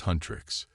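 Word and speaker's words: HUNTR/X: Hunter/X, pronounced Hunrix.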